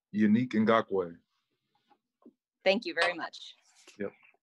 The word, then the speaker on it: Yannick Ngakoue: We get the pronunciation guides and it still gets butchered. From you, will you please say your first and last name? Yannick Ngakoue.